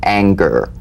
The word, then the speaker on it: anger: For instance, this is the difference between the soft G in singer and the hard G in anger, right? Mm-hmm. For instance, a singer sings, but an anger doesn't ang, right? So the at the end of that word is meaningless in terms of the whole word. That has a hard G.